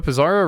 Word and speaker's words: Pizarro: Pizarro rhymes with Bizarro.